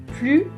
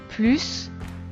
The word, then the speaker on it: plus: façons de le prononcer plus plus plus quand l'adverbe plus un sens positif il faut donc prononcé le s à la fin dans ce cas-là plus